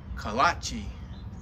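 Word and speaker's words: kolache: and it's pronounced kalachi now our signature dough stuffed with all kinds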